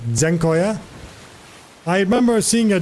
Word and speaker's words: Dziękuję: You need to pronounce Z. Dziękuję.